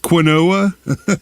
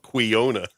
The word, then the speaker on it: quinoa: Uh, what is quinoa? I used to call it quona.